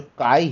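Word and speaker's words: chi: ठीक है, और इसका उच्चारण है सी एच, जैसे कि हिंदी में हम शब्द कहते हैं चोर, तो ये जो सी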